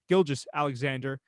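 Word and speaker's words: Gilgeous-Alexander: I think Gilgis Alexander, excuse me. I always mispronounce that guy's name, and I got to stop doing that. Shai Gilgis Alexander.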